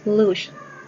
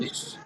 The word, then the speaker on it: loose: or the lush hunger could be Loose. lush. No, no, no. It's not. It's not sh. It's not sh. It's not sh. Like shh. Be quiet. Shh. You know. It's loose. Loose.